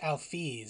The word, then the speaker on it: Alphys: It's pronounced Alphys, Susie.